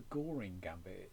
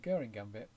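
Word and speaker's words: Göring: commander in the war Herman Guring. It rhymes with stirring and not boring. It's not a goring gambit. It's a guring gambit I think. So guring gambit and if black declines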